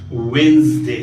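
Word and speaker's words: Wednesday: There is वेंसडे, नॉट वेडनेसडे.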